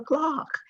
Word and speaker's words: clerk: even in certain pronunciations you never hear us say the clerk of the house of assembly it's the clock even though it is it is spelled c-l-e-r-k and our national radio